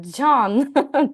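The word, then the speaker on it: Can: Тільки не Кен, не Кен. Це в нас Джан. Це Дже.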